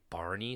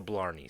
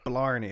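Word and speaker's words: Blarney: One, it's the Blney stone. Blney. Okay.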